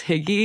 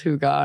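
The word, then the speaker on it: hygge: I think at first I thought it was higgy because it's like h y g g yeah and then somebody told me that it was Huga and I read the book and they like pronounce pronunciated it that way yeah but it was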